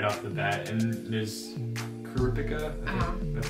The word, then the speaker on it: Kurapika: And there's Kuripika, that's how you say his name.